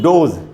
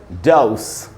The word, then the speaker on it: dose: अब इसको हम बोलते हैं हम लोग डोज। दवाई की एक डोज लेनी है। डोज एकदम गलत उच्चारण है दोस्तों। सही उच्चारण क्या होगा, डाउस डाउस। डोज नहीं बोलेंगे, डाउस बोलना चाहिए।